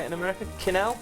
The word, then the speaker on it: quenelle: Quenelle? Quenelles. Quenelles. Right. Right, so basically it's just shaping it between the two It's spoons. Quenelles. Okay. It's actually a French word, and quenelle used to be a poached mousseline, and this